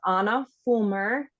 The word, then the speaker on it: Ahna Fulmer: So my Instagram is Ahna Fulmer. Yes, like the Frozen princess, but not spelled like her. So it is AHNA FULM as in mom, ER, Ahna Fulmer.